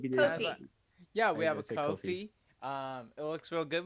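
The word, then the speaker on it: Ko-fi: we have a uh is it pronounced coffee the ko dash fi thank you yeah we have a coffee um it looks real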